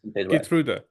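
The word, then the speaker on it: Geertruida: you set up the backline because you've got G truda did I pronounce that correctly guda guda yes right guda you got guda got Dum freeze and you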